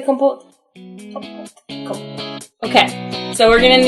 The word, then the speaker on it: compote: Compote.